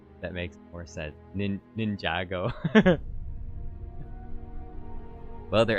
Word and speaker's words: Ninjago: Something clever says it's it's pronounced Ninjago. Okay. That makes that makes more sense. Ninj Ninjago.